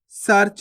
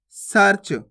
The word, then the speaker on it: सर्च: कर्क नहीं पढ़ना कर्क सर्च कैसे पढ़ेंगे सर्च सरच नहीं पढ़ना सर्च धर्म कैसे पढ़ेंगे अपन